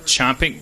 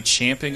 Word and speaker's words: champing: to be fort yeah did you know it's not chomping chomping at the bit it's supposed to be champing at the bit no